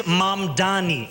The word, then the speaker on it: Mamdani: And furthermore, the name is Mamdani, M-A-M-D-A-N-I.